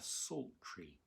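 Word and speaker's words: psaltery: a very simple instrument it's called a salt tree and it's spelt with a p strangely so p s a l t e r y it's also sometimes called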